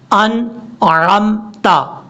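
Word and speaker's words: أنعمت: انعمت پڑھیں گے تو نون کے بعد جو عین ہے یہ عین نہیں پڑھا جا رہا، حالانکہ ہم نے اس کو پڑھنا کیسے ہے، اس کا ٹھیک تلفظ یہ ہے انعمت، انعمت، آپ جلدی میں پڑھیں تب بھی اس کو ایسے ہی پڑھا جائے گا، انعمت، انعمت، یہ ہے اس کا پڑھنے کا طریقہ۔ اب اس کے بعد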